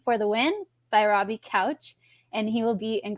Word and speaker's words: Couch: to confused strangers that his last name is pronounced like a sofa.